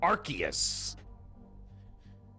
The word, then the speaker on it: Arceus: Well, I'm not talking about Arceus because that's pronounced Arceus by all the smart people.